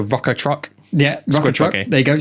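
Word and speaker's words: Rukkatrukk: The Rakuta truck. I'll help you. The the rocker truck.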